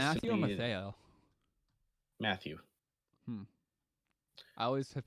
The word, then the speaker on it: Mathieu: Matthew. Hmm. I always have pronounced Um, it Matteo.